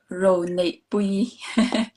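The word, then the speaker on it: Ronepui: My name is pronounced Ro Ne Pui.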